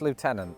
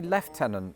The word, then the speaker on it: lieutenant: In America, it's lieutenant. And you're probably thinking, "Oh, I bet the Brits say lieutenol or something very French." No, we say left tenant for reasons that Yeah.